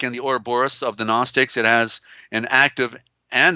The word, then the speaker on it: Gnostic: Like the zodiac and the Ouroboros of the Gnostics, there's that silent G for the sun, for enlightenment.